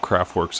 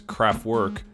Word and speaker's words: Kraftwerk: Also to add, I may refer to Kraftwerk as Kraftwerk, the American English pronunciation of the name, just out of habit, so for all of the purists, please excuse the pronunciation.